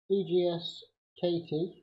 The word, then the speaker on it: Egscatee: Okay, so I just purchased this EGS KT as they pronounce it. It's an EGS KT.